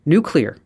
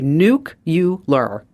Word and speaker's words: nuclear: Nuclear. Okay. Some people say nucular. Nuclear.